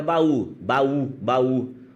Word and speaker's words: baú: Agora, baú. O U faz vibrar suas cordas vocais porque ele é uma vogal.